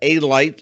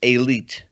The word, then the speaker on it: Elite: John Elite, sometimes pronounced A-Light, but it's Elite.